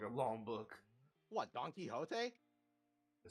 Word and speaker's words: Quixote: It's Don Quixote. Oh no, that's how you pronounce Quixote.